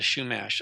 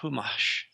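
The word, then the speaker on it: Chumash: against the what they they called the shash I don't think they call themselves that but it's actually pronounced humash it's is it's something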